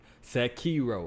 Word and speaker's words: Sekiro: Sekiro. All right, that's how you pronounce it.